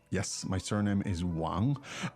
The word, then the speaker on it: Wang: meaning, My surname is Wang. yes, my surname is Wang. What tone is the name Wang? It's second tone.